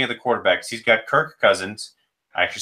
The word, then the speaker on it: Kirk Cousins: You're off to a great start because looking at the quarterbacks, he's got Kirk Cousins, I actually said it right this time.